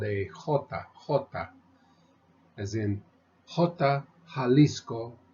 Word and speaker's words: Jalisco: and it's not pronounced the J in Spanish however is pronounced like our h so we would say in the letter the letter in uh is called a hota hota as in Jalisco Jalisco Don Quixote Jalisco Don